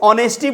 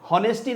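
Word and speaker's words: honesty: इसको ऑनेस्टी बोलते हैं। होनेस्टी नहीं बोलते हैं।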